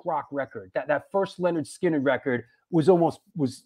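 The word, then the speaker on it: Lynyrd Skynyrd: I I I I love the sighting of pronounced Leonard skinnard I I I love that record growing up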